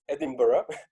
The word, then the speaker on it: Edinburgh: for people so you hear people say me Edinburgh Edinburgh Edinburgh and different versions so I've been there and I've heard that it's Edinburgh but still there are many different dialects and